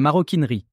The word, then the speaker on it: maroquinerie: signifie cuir de Maroc cela prouve qu'on ne doit pas y doubler le r comme en effet on ne le double pas dans la prononciation le maroquinier l'artisan qui